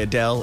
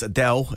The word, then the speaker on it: Adele: We've been stuffing around this morning a lot with the pronunciation of Adele. We say Adele. Adele says Adele, and she would know it's her name.